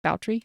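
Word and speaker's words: Báthory: I keep calling her Elizabeth Bathory. Boutrey. Yeah, Boutrey sounds much more realistic. Yeah, it's Elizabeth Bathory, but pronounced Boutrey.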